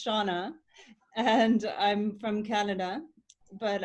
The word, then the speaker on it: Seonagh: please introduce yourself sure i like when um anabella calls me but my usually name is shauna and i'm from canada